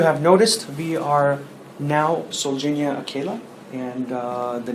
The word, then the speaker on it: Solgenia Akela: The best way to pronounce it is SOLGENIA Akela, and so SOLGENIA Akela is the right way to pronounce the company name.